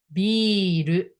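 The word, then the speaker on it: ビール: Beer pronunciation is biru, biru.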